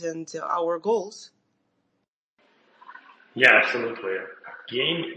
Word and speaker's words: Gain: Gain is pronounced like gaining, not gain ventures, not gate ventures.